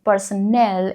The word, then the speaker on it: personnel: Personnel is pronounced with n e l at the end.